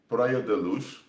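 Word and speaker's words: Praia da Luz: beth mccann disappeared in prior deluge that's how you pronounce it but i speak portuguese so in documentaries they pronounce it in very horrible ways but anyway prayer deluse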